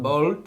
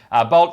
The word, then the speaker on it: Bolt: Now, it's not Bolt, it's Bolt.